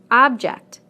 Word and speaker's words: object: Object, object. Permit, permit. Again, we stress the first syllable in the nouns and the second syllable in the verbs.